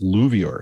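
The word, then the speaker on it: LUVOIR: They've got one called, I think it's pronounced Luvior. It's a large ultraviolet optical infrared surveyor.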